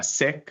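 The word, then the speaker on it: Sikh: Um and many of them are sik or sometimes pronounced uh sik which is a ethnic minority in India or in the Punjab region.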